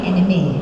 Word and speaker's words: anime: Okay, there is one more question, and I know Faisal has been dying to ask this question because we know you like anime.